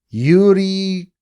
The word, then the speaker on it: Yuriy: by a YouTuber by the name of Yuri Guts. His first name is spelled Yuriy, and then last name is Guts.